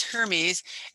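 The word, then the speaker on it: Hermès: And thank you, whoever told us that the correct pronunciation is Hermes.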